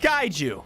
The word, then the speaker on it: kaiju: It's pronounced kaiju.